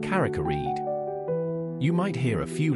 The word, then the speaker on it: Carrick-a-Rede: Carakeed pronunciation, it's pronounced Caracared. You might hear a few locals pronounce it as a Caracaridi.